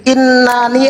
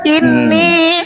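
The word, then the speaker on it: إني: Nah, Bang Moto tuh bacanya inna. Pada saat Bang Moto baca inna, oh itu salah Bang Moto. Ini lo yang benar. Inni ana rabbuka fakhla'na alaika innaka bil wadil muqaddasi tuwa.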